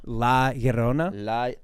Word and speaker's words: La Llorona: La Llorona. La Llorona? Like Ma Sharona.